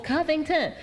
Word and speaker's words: Covington: well i'ma is my maiden name is Covington right three syllables KUB ain't NCO VI ng T n so then people would always say crazy stuff I'm like how can you it's three syllables Covington so then when I